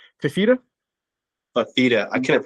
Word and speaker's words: Fifita: Fifita. I couldn't pronounce it earlier.